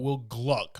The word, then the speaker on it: Will Gluck: you know anything about Will Gluck I say that I gotta say it like that because his name gets messed up a lot okay this guy gave